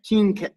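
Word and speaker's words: Qing: of china capital and q-i-n-g how do you pronounce it okay king danced the capital as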